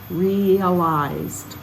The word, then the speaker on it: realize: read reached in 22 realized the same Rea but this time we say realize to realize we get separate the two vowels into different syllables realized and that old